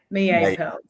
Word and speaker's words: Mie Pearls: in Japan with the Mie Pearls. Is that how you pronounce it? Yeah, Mie Pearls.